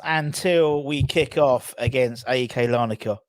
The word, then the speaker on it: AEK: we kick off against AK lanika or as I think it's pronounced Ikea that's that's what that's what actually people from Lana could call it Ikea so there we go